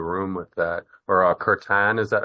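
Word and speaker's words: kirtan: be in the room with that or a curtan.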